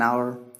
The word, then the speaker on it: hour: purpose for example an hour an error and owner an honest man and so on here the word H is silent in all these words so we'll treat this